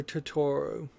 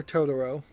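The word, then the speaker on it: Totoro: they put my neighbor tutoro in fifth now if you ask Most Japanese people my neighbor todoro sorry I Mis pronounced it the first time uh would almost certainly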